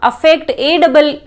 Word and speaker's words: affect: Pronunciation भी अलग अलग हैं दोनों के, लेकिन अधिकतर लोग सब अफेक्ट बोलते हैं। ए से जो शुरू हो रहा है उसको कहोगे अफेक्ट, ई से शुरू जो हो रहा है उसको कहोगे इफेक्ट।